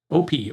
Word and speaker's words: OP: OP, or op, is short for operator.